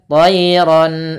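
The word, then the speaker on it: طَيْرًا: Terus misalkan di sini tayanya sama, yaitu lembut dalam pelafalannya tayran. Ro-nya kita baca tebal, diwarnai warna biru, artinya ro-nya kita baca dengan bacaan tafkhim, yaitu tebal sebagaimana di awal. Ron, suara tanwinnya harus jelas karena di sini bertemu dengan hamzah.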